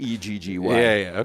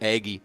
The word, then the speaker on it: Aggie: Aggie I was like it looks like it's spelled Aggie but I know you're saying eggy yeah eggy eggy togy